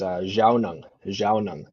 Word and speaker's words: Zhaawnong: The pronunciation, there's actually 3 kind of ways to say my name, depending on where you learn, where you've understood the Anishinaabe language.